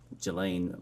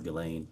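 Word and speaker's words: Ghislaine: that in 2024 uh Gelain Maxwell or Gileain I think is how it's pronounced arranged and wired $1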